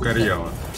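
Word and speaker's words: Karjala: Это читается как Карьяла.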